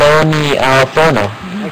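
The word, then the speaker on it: aglio: is a difference it's it's actually not an L you can get away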